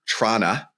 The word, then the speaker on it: Toronto: was going first but someone was asking me last night how I pronounce the word Toronto because that's what exposes actual Canadians versus people pretending to be Canadians. And I was like, well, when I lived there growing up, it was Trana, but but when I'm